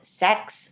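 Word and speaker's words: Seks: I also went to a restaurant called Sex, which is spelled S E KS, and that was great.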